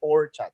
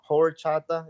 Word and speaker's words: horchata: And it's rice water in Spanish, but a lot of people can't pronounce horchata, especially if they don't speak Spanish. They pronounce it more like horchata, right? Like emphasis on the whore, which is every time